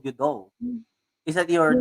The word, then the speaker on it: Doe: Doe Vidir. How do you pronounce it? Doe or Do, Doe? do with it. Doe.